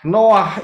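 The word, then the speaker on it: נח: Nah, peristiwa Noah ini, ya, bahasa Indonesianya Nuh begitu ya, tetapi sebetulnya adalah Noah karena ada dari dua huruf. Ingat ya, bacanya dari kanan. Noah.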